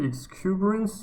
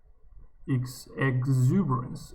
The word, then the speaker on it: exuberance: pronounce this word again is it excuberance or um exuberance exuberance okay exuberance exuberance the quality of feeling